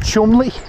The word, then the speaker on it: Cholmondeley: Like on the Norwich branch, there's a lock and it's spelled Cholmondeley, and it's pronounced Chumley.